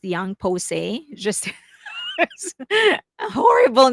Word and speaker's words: YOUNG POSSE: So uh the name of the girl group is pronounced Young Pose.